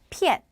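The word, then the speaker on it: 骗: 거 속이다 자 여러분 속이다 표현은 바로 피엔이라고 읽어요 한번 더 피엔 한 번 더 피앤 자 그다음에 휴대하다 우리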